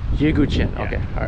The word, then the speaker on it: Yeghouchian: Yeghouchian.